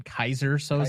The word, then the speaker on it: Keyser Söze: Or am I Keyser Söze? Keyser Söze? You mean Keyser Söze? Keyser, excuse me. Or am I Keyser Söze? Sure. After the mispronunciation, I think people would think you're more